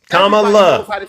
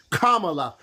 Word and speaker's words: Kamala: Because if you can't get comma, everybody knows how to say comma and put a la at the end of it. Kamala. And put those two together. Kamala.